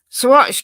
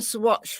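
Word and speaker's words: Saguache: uh little news clip Swatch County Colorado hope I'm saying Swatch right because was um it doesn't look like Swatch to me but that's apparently how you pronounce it so the search for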